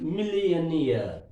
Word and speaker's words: millionaire: young opinion maya and like last syllable of the word we have to stress money students now we